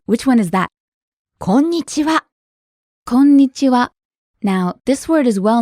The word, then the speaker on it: こんにちは: Konnichiwa. You hold the n sound for a little bit, don't you?